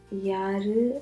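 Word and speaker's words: யாரு: pronounce both the a's you need to stress the a's over here and say ya if you say yarul as if there is one a um it's not the exact way you pronounce it so which makes yeah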